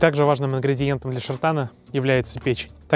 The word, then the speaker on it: шартан: in love there is one national dish called shartan. "Sheartan" Angelica tells you behind the scenes how pronounced correctly.